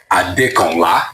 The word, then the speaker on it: Adekanla: Aod Samuel Adla. Did I get it right? Very well. Well pronounced.